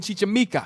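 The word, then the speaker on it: Chichimeca: in gamora's conquests of mexico of a certain chichamika that's how you say it don yeah he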